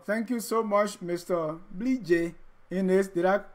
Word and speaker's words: Bleejay Innis: Bleejay Innis. Did I pronounce it right, the Basa way?